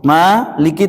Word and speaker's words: Maliki: Maliki 3 huruf. Yang memendekkan mim mayoritas, Maliki, Maliki yaumiddin. Mayoritas membacanya pendek, Maliki yaumiddin.